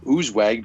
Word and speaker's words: Oozewag: Yeah, but ooze is normally pronounced US when you're talking about a name or a person or place. So that's why I kept typing US instead of ooze.